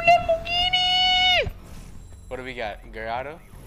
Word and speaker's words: Gallardo: Gallardo? Gallardo?